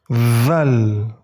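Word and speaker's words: ذال: Kemudian huruf Zal. Huruf Zal sama dengan pengucapan huruf Fa. Jadi ujung lidah kalian gigit sedikit. Zal.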